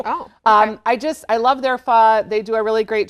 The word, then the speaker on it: pho: And it's spelled like pho. So if you go to a restaurant, it's P-H-O. Yep. It's pho, though.